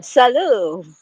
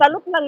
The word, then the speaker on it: salut: Salute lang naman yun. Bakit not U. boys can pronounce the thing? Isalute yun. Salute. But it says, just say salute. It's salute. Salut.